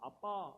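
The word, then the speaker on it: אבא: 우리 마음 가운데 보내서 아빠 아버지라 부르게 하셨느니라. 아바 성경에는 아바라고 썼는데 이게 원래 발음이 아빠라는 거예요.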